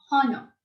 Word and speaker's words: honor: Because H is silent and the sound of O is heard here.